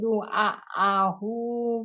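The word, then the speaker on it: دعاءه: Du'a. Ya, ini dua, ini A-nya pun panjang. Dua. Yang satu lagi A, bukan ain. Walaupun agak mirip depannya.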